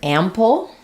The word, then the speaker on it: ample: So here letter A is the A sound, like in cat or apple, the first syllable stress. And then we tend to have a dark L at the end. So you can think about it as having a little bit of a schwa before it.